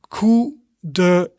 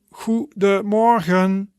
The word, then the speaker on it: goedemorgen: But for example, we can say goedemorgen, goedemorgen. And that means good morning, right? And that is like 3 syllables. So that would be goedemorgen, goedemorgen.